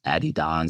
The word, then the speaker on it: Adidas: um quite a few Adidas Addy Don if you understand how to say it properly um so we deal